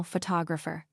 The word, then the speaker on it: photographer: Photograph, now photographer. Notice how the stress changes when the word becomes longer.